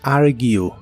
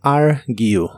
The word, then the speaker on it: argue: El verbo discutir en inglés es argue. La última parte de esta palabra es gue, así que completa es argue, argue.